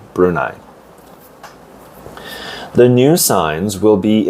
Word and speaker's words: Brunei: It's the pronunciation, Brunei.